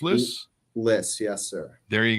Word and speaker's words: Lyss: company and everything else harrison p is it lis pronounced list list yes sir there you go harrison p